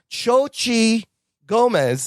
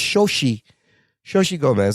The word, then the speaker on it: Xochitl Gomez: Xochitl Gomez, I think that's how you say her name. There's a TL at the end, but I think it's silent. I think it's Xochitl Gomez, America Chavez, Rachel McAdams